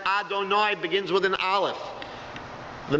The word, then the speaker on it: Adonai: Instead of saying that four-letter name of God, the tradition is to pronounce it as Adonai, begins with an Aleph, the Master.